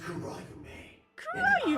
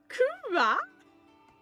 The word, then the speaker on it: Kurayume: Kura? I'm not about to, like, emphasize wherever you want, pronounce the R however you want, but that is categorically a no.